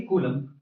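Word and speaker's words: coulomb: unit क्या हो जाएगी कोलम कोलम हिंदी में बोलते हैं kulambh लिखते हैं बी यहां पर साइलेंट माना जाता है इन्होंने फोर्स बताया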